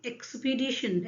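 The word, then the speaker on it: expedition: Next question है dash एक्सपीडिशन, क्या pronunciation है, एक्सपीडिशन। एक्सपीडिशन से फर्स्ट लेटर पकड़िए, एक्स। सेम एक्सप्लेनेशन जो मैंने अभी 8th वाले क्वेश्चन में बताया है, वही सेम साउंड प्रोड्यूस हो रहा है, एक्स, इजंट इट।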